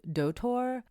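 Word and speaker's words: Doutor: near our hotel was a Japanese chain called doour uh it's spelled D o u t o r and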